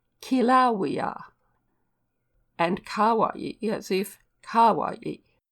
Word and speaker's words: Kilauea: with the italian sound the volcano is pronounced as if spelt kilauea and kawaii as if